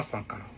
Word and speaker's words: Sankara: Quand j'ai entendu le capitaine prononcer Thomas Sangara dans sa bouche, c'est comme si il n'a pas dit le mot.